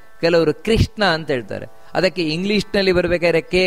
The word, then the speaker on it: ಕೃಷ್ಣ: ಅಗ್ರಾಹ್ಯ ಶಾಶ್ವತ ಕೃಷ್ಣ, ನೋಡಿ ಕೃಷ್ಣ ಅಂತ ಹೇಳ್ತಾರೆ ಕೆಲವರು, ಕೃಷ್ಣ ಅಲ್ಲ, ಕೃ ಕಾಕಾ ಕೀಕಿ ಕೃ ಅಂತ ಬರಬೇಕಲ್ಲಿ, ಹೊರತು ಕ್ರೀ ಅಲ್ಲ, ಕೆಲವರು ಕೃಷ್ಣ ಅಂತ ಹೇಳ್ತಾರೆ.